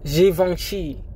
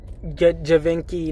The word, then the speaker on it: Givenchy: It's pronounced Givenchy, not Givenchy, not Givenchy, or whatever the fuck y'all be saying.